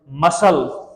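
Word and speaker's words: muscle: silent करेंगे very simple मसल मसल है ना मसल गाइज ठीक है मसल ये एमय एस सी यहां पर सी साइलेंट आपसे अगर कोई भी कहे कि मसल की स्पेलिंग लिखें तो आप ऐसे लिखेंगे एम यू एस सी एल ई बट यहां पर सी को साइलेंट किया जाता है एस को पढ़ा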